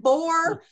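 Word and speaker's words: Boer: And boar is not like the swine boar. It's spelled B-O-E-R.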